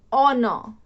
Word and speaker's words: honor: Okay, see, the pronunciation of these two words is, we use H as silent, so we pronounce it honor, honest, honesty.